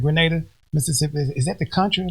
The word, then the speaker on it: Grenada: It's Grenada.